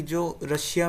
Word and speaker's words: Tsar: TSAR, टी इसमें silent होता है। तो जार कहा जाता है।